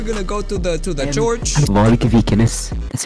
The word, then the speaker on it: Varg Vikernes: Varg Vikernes.